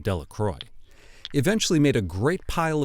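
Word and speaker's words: Delacroix: jones and dickie delaqua the villagers pronounced his name de la croix eventually made a great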